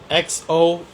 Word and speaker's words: Xochitl: Xochitl, pronounced Xochitl.